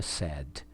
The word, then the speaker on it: said: verbo se no infinitivo pronuncia say na terceira pessoa SS só que no passado é sad entrou um i no